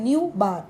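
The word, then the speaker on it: ν̄: जाता है, ठीक है, न्यू बार, we will pronounce it एज न्यू बार।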